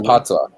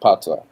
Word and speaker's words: patois: what sammy just posted that's pronounced patois you're saying we speak english yeah you know the toys language in jamaica and we in jamaica we speak patois but you also like